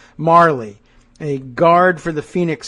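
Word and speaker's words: Majerle: So the name that I had pronounced incorrectly before, Majorly, is pronounced Marley.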